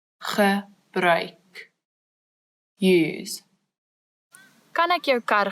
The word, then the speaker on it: gebruik: So the word is gebruik, the ch sound as before, and now we've added a new sound, oi.